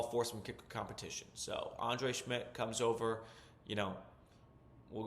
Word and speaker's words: Schmidt: Uh, they also added a kicker, Andre Schmidt. That's how you pronounce his last name.